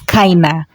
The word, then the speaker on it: keine: Although when you pronounce it, you're supposed to pronounce it as kina.